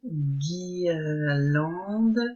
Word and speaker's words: guirlande: On n'entend pas le u. Par exemple, le premier mot, guirlande, il va falloir le mettre dans cette case-là.